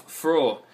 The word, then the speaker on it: Fro: As Frey's name of Fro is phonetically the same as the word used in German for gladness, he was considered the